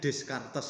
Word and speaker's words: Descartes: René Descartes, tulisannya Descartes ya, tapi bacanya René Descartes.